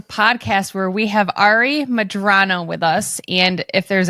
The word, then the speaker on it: Medrano: do you say your last name madrano m madrano madrano yeah say something from your heart because